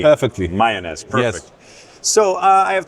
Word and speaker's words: Mayones: Did I pronounce it correctly? Perfectly. Mayones, perfect.